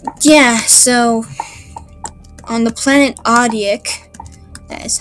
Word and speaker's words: Audic: But yeah, so on the planet Audic, that is how you pronounce it, there are 3 races.